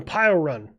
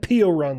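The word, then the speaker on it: Piorun: Blasco in the py run. I said por run like seven times and people like it's py run.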